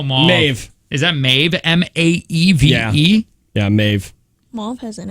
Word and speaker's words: Maeve: How do you pronounce this one? Is that Mauve? How do you spell Mauve? Maeve. Is that Maeve? M-A-E-V-E?